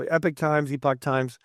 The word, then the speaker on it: Epoch: So Epoch Times.